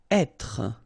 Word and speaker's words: être: Être. Okay, so remember that when you get this accent circonflexe here, you should really pronounce it openly. So, être. Okay, don't insist on the final être.